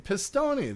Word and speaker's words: Pistone: Thomas, I just learned how to pronounce his name. Pistone.